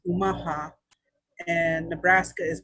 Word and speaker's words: Omaha: a thousand years and so the city of omaha is actually named after my tribe it's pronounced umaha and nebraska is pronounced nebraska it means for